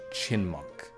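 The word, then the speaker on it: Chyinmunk: Okay, so that is definitive proof that is pronounced Chinmunk.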